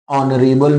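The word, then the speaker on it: honourable: अब इनमें से क्या भरोगे, तो अगर आपको अगर याद है या आप जानते हो कि ऑनरेबल में एच साइलेंट है, तो आप जब एच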